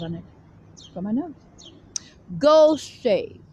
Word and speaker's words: Gaucher: Gaucher, spelled like the land of Goshen.